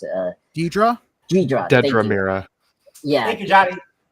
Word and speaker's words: Dedra: Uh, Dread uh, Dreta uh, I'm sorry I it's hard for me to pronounce it. Uh, Dedra. Dedra.